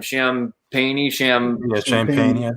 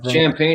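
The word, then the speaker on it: Champagnie: Champagne. Champagne.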